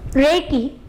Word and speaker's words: Reiki: Reiki is a Japanese term which has two syllables in it, Rei and Ki.